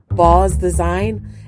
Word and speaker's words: Baughaus Design: out her website at ball house design uh it's probably it's pronounced more like balls design and is spelled b